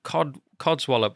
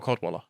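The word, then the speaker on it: Cadwalladr: And actually, there was an article with him from 2012 where I agreed with Carol Codswallop. Carol Codwaller.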